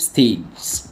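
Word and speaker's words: stage: يعني مراحل خد بالك الجي هنا بنطه جا ليه لانها جايه بين حرفين متحركين مش بس جا بنطقها دي ومعاها جي بقول ستيد ستيج ستيج لايف ستيج زي كلمه بيج تمام مابقولش بيج بيج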